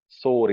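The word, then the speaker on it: शोर: was made to recite sore instead of shore. So shore was the correct, the more correct pronunciation.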